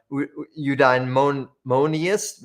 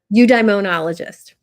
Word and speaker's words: eudaimonologist: Calling yourself a eudaimoniast? No, how do you say it? Eudaimonologist.